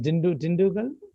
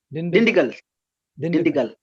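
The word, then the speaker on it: Dindigul: Your in-laws place is Dindugal? Dindigal. Ah. Yeah. Johnson, he pronounces better than you, huh?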